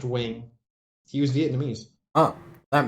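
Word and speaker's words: Nguyen: oh my god yeah there's this guy uh named wing and spelled n-g-y-n-g or some he or n-g-u-i-e-n uh pronounced wing he was vietnamese oh that makes sense and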